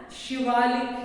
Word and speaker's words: Shivalik: So it is pronounced as Shivalik hills.